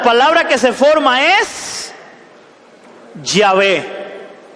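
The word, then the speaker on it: Yahvé: de la v w de que muchos pronuncian ya ve hoy abue yagüe malvín han oído a alguien pronunciarlo así porque muchos afirman que era una w pero aparentemente más se da a entender que era una v que una w entonces se forma la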